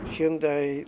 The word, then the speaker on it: Hyundai: Hyundai like Sunday.